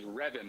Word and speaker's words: Reven: Well, he said to me it was Revan, like revving the engine.